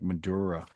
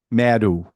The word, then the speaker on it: Madhu: I thought it was like Madura. Madura. Wait a minute. I'm gonna get it right because I mispronounce too many names, as you guys tell me over and over again. Okay, here we go. She played Madhu.